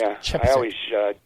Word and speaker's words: Chepesiuk: It's Chepesiuk, but it's pronounced Chepesiuk.